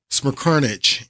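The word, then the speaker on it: Smerconish: Smirkovich is how you say his name.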